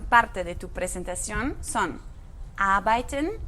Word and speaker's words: arbeiten: Ojo aquí con la pronunciación, tenemos después de la A la letra R, pero cuando R sigue después de una vocal, casi no la pronunciamos. Escucha otra vez. Arbeiten.